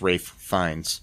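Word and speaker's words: Ralph Fiennes: reference to Rafe fines whose uh name is pronounced Rafe fines but spelled spell Ral so yeah yeah wow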